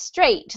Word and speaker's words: strait: This one here is just pronounced straight, the same as, you know, straight as opposed to curly or curvy or twisty.